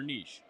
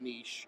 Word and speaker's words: niche: they both know their Niche so yes that's a huge thing and yes that is how you say the word Niche it is not Niche it is Niche niches get stitches man